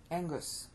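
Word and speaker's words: ἐγγύς: it more than twice Angus see you spell e g g u s but you pronounce the two G's together as an NG so you say Angus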